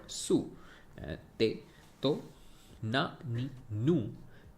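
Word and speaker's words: つ: And this is called Su. I think T is silent. It's called Su.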